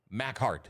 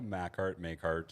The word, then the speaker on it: MacHart: I think I've called you all of them, but it is pronounced MacHart. Am I correct? Yeah, MacHart.